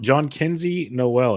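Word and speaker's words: Jhonkensy Noel: you mentioned uh JN John Kenzie Noel as I've been told is the proper way to pronounce it John Kenzie Noel of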